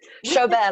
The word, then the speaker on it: Chobert: Chobert, like a bear that shows.